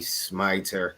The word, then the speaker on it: Smiter: First and foremost, my name is Smiter. I always tell everyone when you're pronouncing that last name, think of the word to smite and then put ter on the end. So it's a smiter.